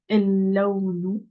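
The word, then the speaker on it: اللون: Pareil, ici, je prononce pas le lem. Donc, el-lawnu.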